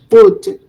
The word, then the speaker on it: would: I do not pronounce the L sound. So should, right? O would.